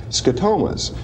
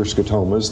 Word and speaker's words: scotomas: spots we had mentioned the the last program scotomas this is an interesting concept an interesting term it's spelt s-c-o-t-o-m-a-s it's a latin word meaning a